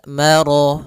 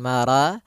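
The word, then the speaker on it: مرج: di antara keduanya maka Rya tebal Mar bukan Mara tapi dia ro sempurnakan lafal rnya marjal kemudian lafal albahrain ada alif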